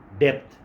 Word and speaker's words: depth: जो है ये हमें डेप्थ देगा, गहराई देगा, डेप्थ DEPTH, गहराई, डेट नहीं, बंदा क्या क्या समझाएगा, ठीक है, DEPTH, डेप्थ, डेट, ये जो कर्जा है ये डेट है, इसमें बी साइलेंट है।